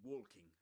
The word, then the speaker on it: walking: So, we drop it. It's a silent L in this word. This one. We don't say walking.